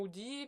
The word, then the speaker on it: hoodie: Hoodie. Faut que tu prononces le hash.